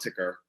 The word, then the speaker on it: TKer: I prefer to call it ticker.